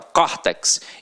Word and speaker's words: córtex: Detalhe, aqui agora a pronúncia é aberta, ó, córtex, então leva o acento agudo.